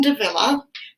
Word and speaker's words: de Villa: Eileen de Villa, whose name rhymes with another person who's famous. Cruella de Vil?